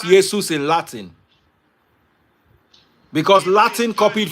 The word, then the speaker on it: Jesus: the name is pronounced Yesus. The J is silent. Now even Do you know why it is pronounced Yesus in Latin?